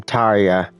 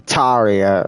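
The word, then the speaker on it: Tarja: Oh, that's how you say her name, Taria. Like Arya, but with a T, Taria.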